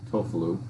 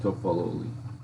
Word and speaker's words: Toffoli: I'll pull it up for you, see if you can pronounce it. Tofalu. Tofalu? I'm pretty good at pronouncing. It's 7. It's 7. Toffoli.